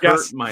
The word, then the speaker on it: Gaskin: don't disagree with that so long story short gaskin or moss oh geez give me gaskin just guess mine did i say it right you did but